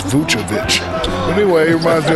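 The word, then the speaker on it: Vučević: And big man Nikola Vucevic, maybe not the most athletic, but Shaq, his skill level makes him a factor. Well, first of all, they call me Shakovic. You said his name wrong. It's Vucevic.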